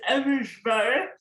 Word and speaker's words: Abujbarah: Could you pronounce your last name for me? It's Eversbar, but don't worry about it.